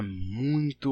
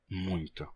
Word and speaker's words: muito: O que aconteceu é que o M da palavra muito transferiu a sua nasalidade para o ditongo ui, transformando muito em muito.